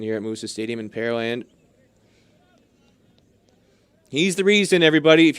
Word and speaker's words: Pearland: here in pearland texas for a lot of people curious about the pronunciation pear land the land where they grow pears it's easy way to think of it it's not where they have pearls there's no lake or deep